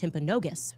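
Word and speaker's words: Timpanogos: Um I'm told actually it's pronounced Temponogus. Okay. Temponogus hospital.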